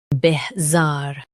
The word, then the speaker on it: bizarre: Bih, zar, bihzar. Stress zar and keep bih soft.